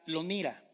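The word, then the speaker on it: לא נירא: Fíjense, la frase no temeremos en hebreo se escribe así, se pronuncia lonira.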